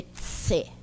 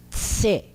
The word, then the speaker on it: c: A letra C em Esperanto tem o som de tse. Tse.